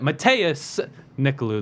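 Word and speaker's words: Matheus Nicolau: oh wait never mind matthias nicolou that's actually how it should be pronounced mathias gave it a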